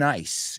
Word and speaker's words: ice: The Thin Ice, it's called. So if you're any fans, and remember, ice is not pronounced like eyes.